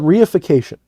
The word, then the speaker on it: reification: And it's called reification. It's spelled R-E-I-F-I-C-A-T-I-O-N.